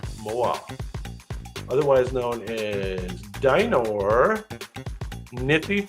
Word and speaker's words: moa: is correct that is correct it is the Moa MOA otherwise known as dinor niy foris Dino nith